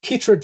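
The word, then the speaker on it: chytrid: this correctly is the cyride fungus affecting the frogs you mentioned in your talk um if so more or less than in other states okay so it's krid fungus is how it's pronounced kitd great yep got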